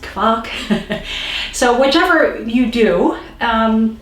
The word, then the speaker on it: Quark: how you can make german clock sometimes it's pronounced cork in german it is pronounced clock so whichever you do um it is this